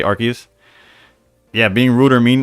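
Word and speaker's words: Arceus: They probably um people say aras I can't even mentally predict it. I say Arus, but I went to Pokemon Arcus YouTube trailer and they say Archus.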